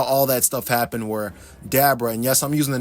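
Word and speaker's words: Dabura: him I call him dabra is because that's what his name is based on Abracadabra even his father's name is Abra so Abra well dabra well Abra is correct obviously but dabra is a more correct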